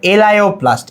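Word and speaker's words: elaioplast: এটারে লিপিডোপ্লাস্ট বলা হয় ঠিক আছে এটা হচ্ছে এলাইওপ্লাস্ট এলাইওপ্লাস্ট এলাওপ্লাস্ট কি তাহলে এটা হচ্ছে চর্বি এবং তেলকে সঞ্চয় করে এলাপ্লাস্ট কি করবে?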